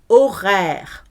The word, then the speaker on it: horaire: Horaire. O, H is silent. Horaire, it's mute.